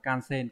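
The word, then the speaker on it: 感染: Cảm đọc là kan và nhiễm trong từ osen, các bạn ghép vào sẽ đọc là kansen, có nghĩa là nhiễm virus này.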